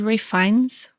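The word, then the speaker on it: Ralph Fiennes: Voldemort is Ray Fines, but I thought it was an I. Like R A I F. Yeah. No, it's spelled Ralph.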